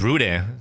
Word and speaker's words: Renne: I'll just stick with Renne. But they pronounce it as Rune, so...